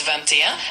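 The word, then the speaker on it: vingt et un: Number 21 in French is Vanta, and it's spelled V I N G T E T T U N.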